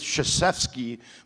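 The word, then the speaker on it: Krzyzewski: because his name is chfi but you if you saw the spelling of it you would never know it starts with a K which is silent so anyway good job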